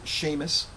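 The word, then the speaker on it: shamus: which I assume is it's spelled s-h-a-m-u-s but uh it's pronounced like Sheamus the Irish name and I'm assuming it's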